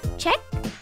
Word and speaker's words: Czech: Check? Is that how you say it? Check? By the Czech? Ah, Czech? Okay.